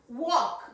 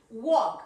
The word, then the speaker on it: walk: Walk. Repeat. Walk. Acordate que esta L no suena, ¿eh? No me pronuncies walk. Yes, it's walk. Walk. Como walkie-talkie.